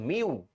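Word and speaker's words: μ: টু এটার উচ্চারণ কি এটার উচ্চারণ হচ্ছে মিউ ঠিক আছে যেটাকে আমরা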